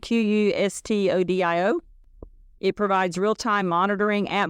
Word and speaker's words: Qustodio: It looks like Qustodio. It's Q-U, it's not even E in it, Qustodio.